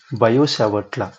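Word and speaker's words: Biot: of 12th that is bio here T is silent in BIO bio we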